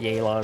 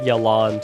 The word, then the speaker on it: Yelan: gotta catch up man yaylon is so like it looks like jalon to me but it's a long a sound yay take it easy yeah